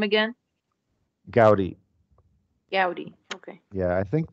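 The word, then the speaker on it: Gaudí: dead okay sorry he was an interesting architect pronounce his name again Gaudi Gaudi okay yeah I think though in the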